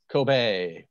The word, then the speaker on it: Kobe: this all my life kobe is not pronounced kobe at all is it kobe kobe yeah thank you for that